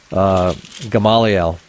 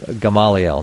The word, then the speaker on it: Gamaliel: Gamaliel, right, of the clan of the tribe of Manasseh, right? The chief of Manasseh being Gamaliel, not Gamaliel.